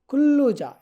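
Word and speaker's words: 근로자: ওকে তারপর আছে কুল্লুজা কুল্লুজা এটা মূলত উচ্চারণ হবে কুল্লুজা ঠিক আছে কুল্লুজা শব্দের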